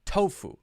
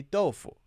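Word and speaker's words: 豆腐: it is okay now do people in China say tofu no no they say doleful right from pronounciation so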